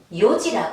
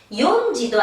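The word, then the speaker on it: 四時: 자, 4시는 요지라고 합니다. 용지도 아니고 시지도 아니에요. 요지예요.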